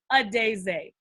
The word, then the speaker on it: Adaeze: How do you pronounce the name? Adaeze.